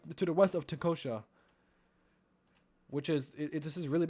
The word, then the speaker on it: Tecumseh: Burlington, you're next in line, and Tecumseh. That's how you say it, Tecumseh.